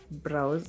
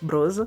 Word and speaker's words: brows: brush through our eye brows somebody told me i should be pronouncing it brows not bros so eyebrows you can